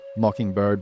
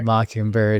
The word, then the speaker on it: MKNBRD: And then you're on Instagram as well, Mockingbird, but it's spelled MKNBRD, right? You got it, Yeah, man. yeah, nice. Yeah, Okay. Mockingbird, MKNBRD.